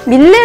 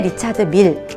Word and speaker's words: 리차드 밀: 많은 기술력이 들어가서 그거야말로 그냥 밀레 라고 검색해서 는 정말 정보가 없어요 그렇기 때문에 정말 정확하게 리차드 밀 이라고 검색을 하고 정확한 이름을 알고